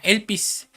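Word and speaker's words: ἐλπίς: Y la palabra esperanza, hermano, se traduce de una palabra griega que se que se pronuncia elpis, pero quiere decir esperar con anhelo, esperar con expectación y esperar con confianza.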